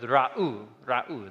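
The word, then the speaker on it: ראו: So you pronounce that word ra'u, they see.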